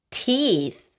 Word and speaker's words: teeth: teeth 발음할 때는 입을 옆으로 많이 벌려줄게요. teeth.